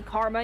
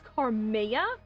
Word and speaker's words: Carmea: guys if you guys just call me karma either. I mean like that's not like I'm not going to bite your heads I'll be like actually it's uh it's Carmea.